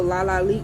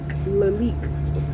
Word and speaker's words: Lalique: had a freaking Crystal la la leak Lalique I said it wrong because I was trying to be funny but I had a